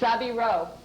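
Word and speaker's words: 背広: know what it is it's sabiro and what that came from was was that their pronunciation of savile row and and they they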